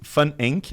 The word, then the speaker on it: Van Enck: Van Enck. Enck. Em alemão pronuncia-se Van Enck, apesar de ser um sobrenome alemão.